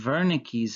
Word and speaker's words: Wernicke: this second is called wernicke's area it's pronounced wernicke because it's a german name it was discovered by